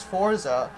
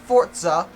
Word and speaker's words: Forza: news to me, because that's definitely a Z, and there's no T there, but apparently it's pronounced Forza by, like, all British people, but since I am American, I will be saying Forza for the purposes of